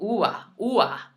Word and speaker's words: uva: traveling, you go to places like Puerto Rico, they slur it even more. So it's like, uva. No, that was horrible. Ua. They almost say it like that. Like it slurs so quickly that you don't even hear it.